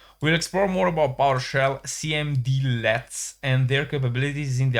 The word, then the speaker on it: cmdlet: Instead when a cmd let pronounced cmd let is run in powershell it returns objects that retain their properties and methods.